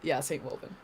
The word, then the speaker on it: Saintwolvinn: So, Saintwolvinn, am I pronouncing that right? Yeah, Saintwolvinn.